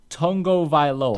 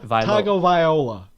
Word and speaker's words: Tagovailoa: Tua Tagovialoa. I believe is how it is. Tagovailoa. No. Vailoa. Tagovailoa. Tua Tagovailoa. Loa. No. Yeah, I'm not gonna get this right. Tua Tagovailoa.